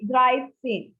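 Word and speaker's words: dreizehn: are just adding 10 to 3 so say dry same dry pain same okay next we have is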